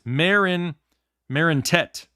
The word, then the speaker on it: Marinetti: This is how it is. Marintet. It's Marintet. I was way off.